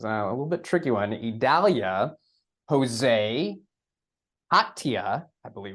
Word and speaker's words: Idalia: eye storm it's a little bit tricky one idalia Jose I believe it's Katya is how it's pronounced Li Margo the end storm is Nigel